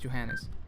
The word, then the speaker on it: Johannes: I'm pronouncing your name it's Johannes yeah it's fine it's fine right correct yeah okay cool so